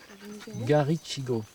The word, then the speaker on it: Garichigo: il n'y a pas de T. Hein. C'est CH. Garichigo.